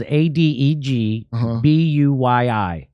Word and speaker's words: Adegbuyi: His last name is spelled Adegbuyi.